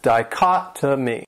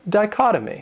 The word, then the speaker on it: dichotomy: This word has four syllables, and the stress is on that second syllable, dichotomy. And that third syllable, it has that schwa, that sound, dichotomy. What it means is the